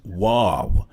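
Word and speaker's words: וו: It says here this is because the letter V is pronounced wave in Hebrew.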